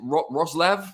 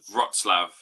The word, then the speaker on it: Wrocław: like out in Poland in, how do you pronounce it? Wrocław? Something like that. I've been pronouncing it as Wrocław. I'm reliably informed by my good friend Emily that it's called Wrocław.